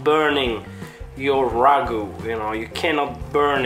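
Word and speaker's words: ragù: you cannot burn it actually we call it ragu because a ragu now you call it a ragout with an accent on top of the final you so ragu that's the right way to pronounce it so now we're gonna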